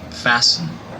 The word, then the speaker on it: fasten: loud story I got the letter T is silent listen listen fasten fasten P mortgage margin must m